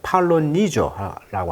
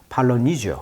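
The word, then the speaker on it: Polynesia: 그 섬을 이제 인도네시아라고 하는데 마찬가지로 폴리네시아를 영어식 발음은 이제 팔로니조라고 하죠. 강세가 여기 있어요. 팔로니지오.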